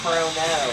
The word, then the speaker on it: Chrono: But it's pronounced Cronus, so it'd be Chrono. I guess it was a verbal tick I messed up, because I thought I had to pronounce Chrono Trigger as Chrono Trigger, because that, to me, that sounds like I'm saying the H. Chrono doesn't even sound like it has an H in it.